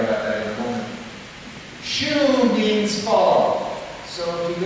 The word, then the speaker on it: Shu: shoe, and it rhymes with shoe, you know, like shoe. As we make jokes about shoe, we'll find out about that in a moment. Shu means follow.